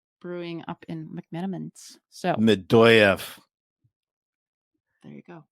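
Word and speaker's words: Medoyeff: It's pronounced. They can see it. Medeyev. No. Medoyev.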